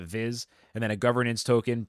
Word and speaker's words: VIS: They've got a utility token called VIS. I'm gonna pronounce that Viz, and then a governance token PGX.